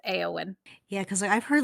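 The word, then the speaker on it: Éowyn: people pronounced like that but it is actually pronounced aeon yeah because I've heard like different pronunciations for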